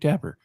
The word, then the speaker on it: Tapper: that would be Jake Tapper well that's what Justin Hart seems to think and well Chamberlain says rhymes with zapper LOL could it possibly